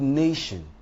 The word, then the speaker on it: nation: me give an example the word nation is stressed on the first syllable that is the n a now if i